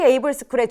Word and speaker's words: AIVLE: KT 에이블스쿨의 주인공은 바로 당신입니다. 지금 바로 지원하세요. AIVLE 어떻게 읽어요? 라이브 아이블레 AI블이? 에이블스쿨. I는 묵음이에요. AI, 비전, 에이블.